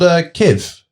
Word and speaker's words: Kiv: Lord Kiv what? Is that how you say it, just Josh? Lord Kiv. Lord Kiv. That's all we need.